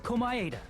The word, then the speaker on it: Komaeda: The person who actually arranged this incident was the victim, Nagito Komaeda.